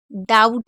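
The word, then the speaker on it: doubt: और डाउट में भी हम बी को नहीं पढ़ रहे हैं।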